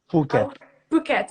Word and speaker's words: Phuket: are also going to correct me if i'm saying it wrong please bouquet okay paquette phuket okay good um you pronounce it right yeah yeah okay good